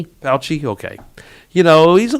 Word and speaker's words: Fauci: Fauci, okay.